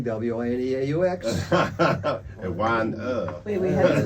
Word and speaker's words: Wineaux: Mind the spelling, W-I-N-E-A-U-X. And wine Wait, we had to spell it? W-I-N-E-A-U-X. Really? Oh yes, en français, Wineaux.